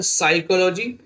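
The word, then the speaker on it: psychology: P silent वाले words देख लेंगे, साइकोलॉजी, देखिए साइकोलॉजी में पी साइलेंट है, और साइकोलॉजी नहीं पढ़ेंगे,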